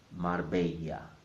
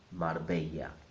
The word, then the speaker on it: Marbella: The R in the middle must sound mar, mar. And the second bit, the Spanish way. Many people are familiar with the Italian way of saying this bit, bella. But in Spanish it's not bella, it's bella.